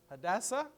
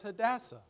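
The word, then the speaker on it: Hadassah: all right what is that name can you pronounce that had a what hadasa hadasa we call her hadasa so her Hebrew name was hadassa and this is what it means it says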